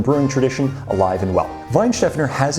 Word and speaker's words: Weihenstephaner: And I understand that it's pronounced Weihenstephaner, and I got that information from Feely in Germany's YouTube video.